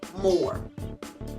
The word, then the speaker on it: Moore: where we would say, because you don't pronounce the R of his name, Billy Moore, you would say, when Billy Moore hits the dough, you drop to the floor.